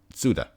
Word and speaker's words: Tsuda: visited by his friend tsuda the t is apparently silent who is an aided